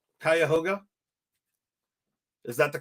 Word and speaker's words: Cuyahoga: I assume that it's Cuyahoga. Is that right? Cuyahoga? Is that the correct pronunciation?